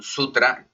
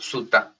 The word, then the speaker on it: sutra: sabiduría Hoy quería traerles un sutra o suta Según como lo quieran pronunciar de el budismo teraba